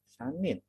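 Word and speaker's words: 三人: 3 orang Sanin.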